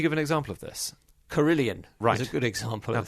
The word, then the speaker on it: Carillion: They were called Tarmac a while back, but they became Carillion, which sounds better. There's always a sign to look for, a trendy name. Well, it rhymes with million and billion.